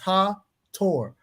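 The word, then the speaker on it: Hathor: history of ancient Egypt she is Hawthorne pronounced her Tor worshiped by Royal and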